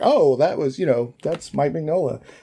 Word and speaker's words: Mignola: that was that's Mike Mignola. I guess it's Mignola. Is it Mignola? I always said Mignola. I pronounce it Mignola. Mignola. So, Mr. Mignola. Yeah. Okay. Like a filet mignola.